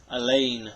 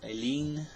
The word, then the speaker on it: Alleyne: the Revoltech Queens blade Elaine or Aileen I'm not sure exactly none see agent even though I just finished watching this series I really don't say her name that much I believe it's Elaine she's an elven battle